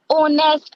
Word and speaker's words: honest: Honest, H is silent, so we will write an honest person.